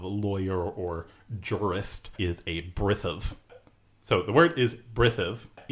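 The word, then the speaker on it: brithem: M, a broad M that is lenited, that is softened. So brithav is B-R-I-T-H-E-M. So brithav with that soft M.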